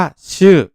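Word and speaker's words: 週: มาก เลย เนียน ต่อ อาทิตย์ หรือ สัปดาห์ ภาษา ญี่ปุ่น ออก เสียง ว่า ชื่อ ชื่อ นะ ครับ สัปดาห์ ก่อน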